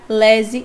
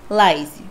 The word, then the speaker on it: laise: a verdade para vocês a forma mais correta é olese e não a laser até porque é do francês então francês vai trazer o modo de dar pronúncia lese e não Laise esse tecido ele é